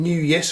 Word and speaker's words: Newyes: now I'm hoping that see how you pronounce the company name new yes although it could be new source pose but it looks like new yes as you can see